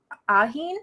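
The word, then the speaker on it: Ahin: geez there's a lot of things I can't pronounce in heard everything um yeah I love her she's great um then we have aheen is that right yep okay um she's born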